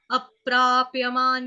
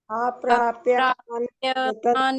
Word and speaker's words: अप्राप्य: धर्मस्यास्य परन्तप धर्मस्यास्य परन्तप अप्राप्यमान निवर्तन्ते अप्राप्यमान निवर्तन्ते अप्राप्यमान निवर्तन्ते। अप्राप्यमान निवर्तन्ते तो प का घात भी आ रहा है, आपका प का घात मिस हो रहा है।